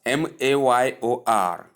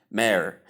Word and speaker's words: mayor: Number 2 is mayor, spelled as MAYOR, but the pronunciation is mayor. It also has an alternative in American pronunciation, which is mayor.